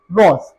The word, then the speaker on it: wrath: ठीक है, और WRATH, वैसे तो इसके अंदर आता है WRATH, ए आता है, लेकिन इसको इसकी जो प्रोनाउंसिएशन है वो है रॉथ।